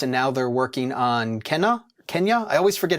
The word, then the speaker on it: Kena: Kena, yeah. Let's get that out the way. It's Kena, yeah, like the South American flute.